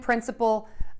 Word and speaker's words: principal: We have 2 homophones, which are words that are pronounced exactly the same with different meanings. Our words today are principle, which is a rule or a fundamental belief, and principal, which is the person in authority.